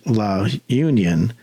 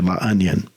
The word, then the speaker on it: La Union: you'll come to it looks like it it's pronounced La Union but it's actually La onion and there's a surf break there but there